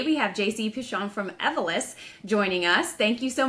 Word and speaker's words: Evolis: I'm from Badge Pass, and today we have JC Pichon from Evolis joining us.